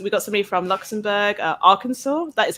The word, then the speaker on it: Arkansas: So we got somebody from Luxembourg, Arkansas. That is how you pronounce that, Arkansas.